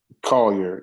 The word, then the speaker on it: Collier: Collier? Collier, yes.